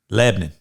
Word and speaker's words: Lebanon: And Lebanon is not Lebanon. Lebanon. You got to say it right.